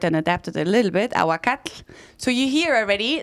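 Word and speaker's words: ahuacatl: so you hear already there is a lot of endings and TL right and the TL is a little bit hard to pronounce because you kind of blow the air out of well yeah exactly so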